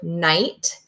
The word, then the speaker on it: night: Hey, that GH is silent. That's a silent consonant. I noticed I don't hear that when I say the word night.